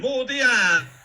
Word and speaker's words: Modiano: Modiano is how he said it.